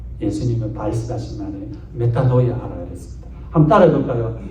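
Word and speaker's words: μετάνοια: 번역한이 원 단어가 뭐냐 희락을 하는 거예요 그게 메타노이아 예수님의 발하시 만에 메타노이아 하라 그랬습니다 한번 따라해 볼까요 메타노이아 메타노이아 예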